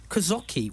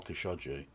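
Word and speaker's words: Khashoggi: After Kazaki was Kazaki. Kazaki. He's managed to put a zed in there somehow. Okay. I think you mean Jamal Kashaji would be the man you're referring to.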